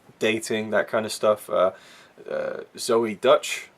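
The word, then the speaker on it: Zoey Deutch: Zoe Dutch, that's how you pronounce her name, Leah Thompson's daughter, great in this film.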